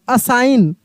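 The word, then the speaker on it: assign: तो डिजाइन A double S आई जी एन असाइन क्या पढ़ेंगे?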